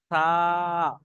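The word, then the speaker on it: ث: এই সার যে উচ্চারণটা, এই সার উচ্চারণটা একটু হালকা করে করবেন, কেউ যেন এরকম করবেন না সা, সা, তাহলে ভুল হয়ে যাবে কিন্তু।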